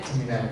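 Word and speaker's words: Gemini: Jemai. Jemai jeminai. Jemai bacanya ya.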